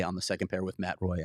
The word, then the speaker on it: Matt Roy: the second pair with Matt Roy. I always want to say Matt Roy. I know. I want to go to the French pronunciation, even though he's American.